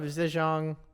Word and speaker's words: Zhejiang: The governor of Zhejiang province, which is around, Zhejiang province.